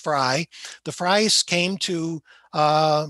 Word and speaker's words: Frey: the fry house now this is f-r-e-y it's pronounced fry the fries came to